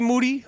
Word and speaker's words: Moody: G. Moody, last name rhymes with duty.